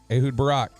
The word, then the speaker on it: Ehud Barak: Ehud Barak. Just wanted to make sure you pronounce that right.